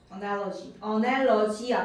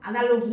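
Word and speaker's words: analogy: 어날러지야 발음. 아날로기 아니고.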